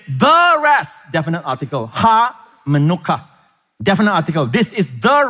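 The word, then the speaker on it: מנוחה: It helps you to remember the manuka honey. All right, same pronunciation, manuka. All right, manuka.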